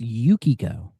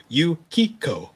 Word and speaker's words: Yukio: They give him a second take or go like, "Oh, sir, it it's it's pronounced Yukio." Oh, he literally he he literally calls her Yuko and I'm just like, "Oh god."